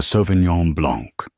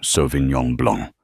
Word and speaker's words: Sauvignon Blanc: "The Sauvignon Blanc." She pronounced it with a hard, flat G and an anglicized blank.